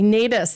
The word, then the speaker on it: Nataas: And today I'm talking with Julie Nataas. That's how we're saying it, right? Yes, that's how you say it.